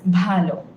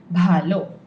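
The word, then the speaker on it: ভালো: fine or well that's Balo this B sound make sure you're saying it correctly Balo Balo a a a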